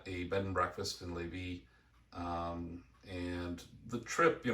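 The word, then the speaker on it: Lévis: Lawrence River in Levy. uh or Levis's if you want to spell it out. Yeah. Um so we're staying at a bed and breakfast in Levie.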